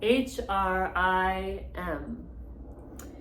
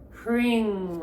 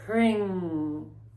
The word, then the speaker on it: Hrim: So, and the seed sound for Bhuvaneshwari is Hrim, H-R-I-M, and it's pronounced Hring, like H-R-E-E-N-G.